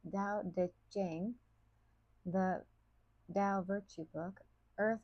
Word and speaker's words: Tao Te Ching: As he stated in his Tao Te Ching, pronounced Dao De Jing, the Tao Virtue Book,